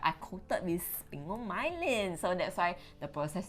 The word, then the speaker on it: sphingomyelin: How do you pronounce it? Sphingomyelin. Sphingomyelin, which is a phospholipid derived from whey protein.